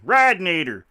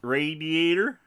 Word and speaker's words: radiator: be a texan thing radinator oh yeah you say it correctly radiator radiator right okay what what does